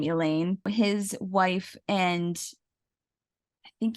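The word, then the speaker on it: Alain: a W but I do know that you pronounce his first name Elaine his wife and I think he had two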